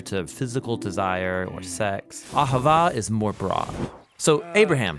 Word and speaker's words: Ahavah: It's pronounced Ahavah.